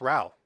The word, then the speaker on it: Rowe: have another conversation later my last name is actually pronounced Ral oh Ral man my